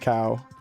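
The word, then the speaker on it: Kau: I think they're called cow, but it's spelled K A W or K A U. Yeah. So, it's like pronounced cow.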